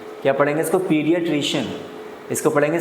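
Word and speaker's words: pediatrician: जैसे इसको आप पढ़ेंगे तो इसकी प्रोनाउंसिएशन अक्सर गलत होगी, तो इसको पढ़ेंगे पीडियाट्रिशियन। क्या पढ़ेंगे इसको, पीडियाट्रिशियन।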